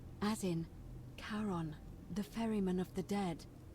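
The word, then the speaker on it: Charon: it's just as you described it only your pronunciation is a little off the name you heard wasn't karen it was c h o o n as in caron the ferryman of the dead karon who in exchange for the right coin helps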